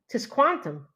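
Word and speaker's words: Tisquantum: say his name it's his name is t t Quantum that's kind of cool T Quantum so like Quantum with a TS T Quantum that's not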